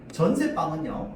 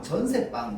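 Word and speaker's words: 전세방: 그래서 새빵, 전세빵, 전세집 이렇게 발음합니다. 근데 공통된 건 뭐냐면 방방 집 얘네를 전부 뭘로 발음한다? 된 소리로 발음한다는 거 똑같습니다.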